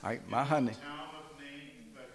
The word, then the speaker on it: Mahanaim: Mahanaim.